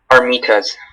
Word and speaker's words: armitas: Okay, Armitas. Am I saying it correctly? Armitas. Armitas. A-R-M-I-T-A-S.